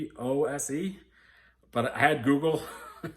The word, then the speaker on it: Czolgosz: It's Czolgose, but I had Google pronounce it for me, and it came up with Czolgosz.